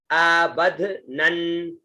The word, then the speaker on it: अबध्नन्: बाद में शब्द आता है अ, ब, आधा ध, न और न, अबध्नन्, अ ब आधा ध न और फिर आधा न, अबध्नन्, है ना, अबध्नन्, अबध्नन्, अ ऊपर ब बीच में, अबध, न नीचे, है ना, नन, अबध्नन्, फिर